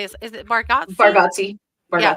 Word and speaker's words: Bargatze: Bargatze. Yeah, Bargatze.